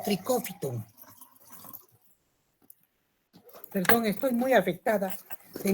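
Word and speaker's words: Trichophyton: Los géneros más importantes de los dermatófitos son el tricofiton, que se escribe así como están viendo, trichofiton y se lee como tricófiton.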